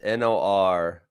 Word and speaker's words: Norfolk: second guess myself there's an l there it's n-o-r-f-o-l-k yeah but they call it norfolk norfolk norfolk i don't know that's how i say it okay um i'm